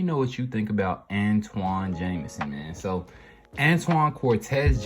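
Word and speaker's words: Antawn: born in shreveport louisiana his parents named him antoine a-n-t-w-a-n but the hospital misspelled it anton a-n-t-a-w-n on his birth certificate the error was never corrected but the pronunciation is antoine did not change jameson played basketball and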